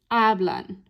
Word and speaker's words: hablan: If we divide it into the 2 syllables, my spoken stress would be here, hablan. That's right where we want it.